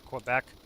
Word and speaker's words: Quebec: Quebec is Q. It's pronounced Quebec because a lot of them, you say them in a certain way so that, you know, they don't get confused with other words.